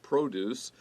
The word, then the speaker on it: produce: It is very difficult to use every part of produce and leave nothing behind.